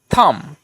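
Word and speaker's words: thumb: তাহলে হয়ে গেল থা আর এমবির মধ্যে বির উচ্চারণটা হবে না যেহেতু এম এর সঙ্গে রয়েছে জাস্ট এম এর উচ্চারণটা হয়ে গেল ম তাহলে হলো থাম বা আরো উদাহরণ যেমন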